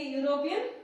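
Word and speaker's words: European: देखो या साउंड आ रहा है, यहाँ पे क्या साउंड आ रहा है? यू साउंड, या साउंड आ रहा है, इसलिए यहाँ पे क्या लिखेंगे?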